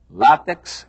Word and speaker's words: látex: Eles ensinam que quiçá quer dizer talvez, ensinam que a pronúncia correta é látex e ensinam que a pronúncia correta é duplex, triplex.